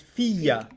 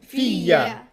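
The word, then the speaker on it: فيَّ: فيا The ya becomes doubled, yeah فيا right? Because there's a ya already in fi, and there's a ya in the ana. yeah So you pronounce it what? Fiya. Fiya. فيا like Okay. a double jump.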